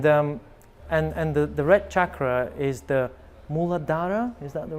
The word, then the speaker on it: Muladhara: And the red chakra is the Muladhara. Is that the right one? Am I pronouncing it correctly? Yes. Okay. So the Muladhara chakra is the base level of the energy.